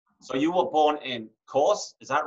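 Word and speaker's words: Korçë: So you were born in Korce, is that right? Am I pronouncing that right? Korce, yeah.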